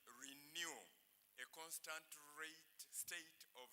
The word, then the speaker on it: RENU: We took new from the Greek alphabet and took the initials research and education of Uganda and called it renew a constant rate state